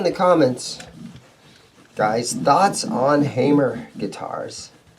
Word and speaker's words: Hamer: comments guys thoughts on Hamer guitars some guys pronounce it hammer but that would be wrong but when when Hamer